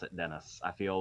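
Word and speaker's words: Denis: by the way to make sure that was Dennis and not like the French pronunciation so yeah it's weird to look at that and pronounce it Dennis I feel like I'm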